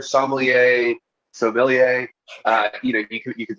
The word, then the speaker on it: Sommelier: yes yes yes and it's certainly not smellier i just want to make that clear we're not talking about